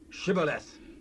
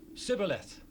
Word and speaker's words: Shibboleth: Say now, Shibboleth. Sibboleth. for he could not frame to pronounce it right.